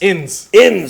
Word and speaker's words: Ins: Innis? Inns. Inns. Like outs.